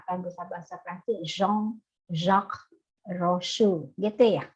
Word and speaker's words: Jean-Jacques Rousseau: Jean-Jacques Rousseau, gitu ya bacanya ya. Ada yang bisa bahasa Perancis? Kalau Jean tuh bacanya Jean-Jacques. Agak-agak bindeng-bindeng dikit bahasa Inggris. Agak sengau Rousseau.